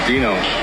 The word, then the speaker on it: Dino: Dino. Dino. Like dinosaur.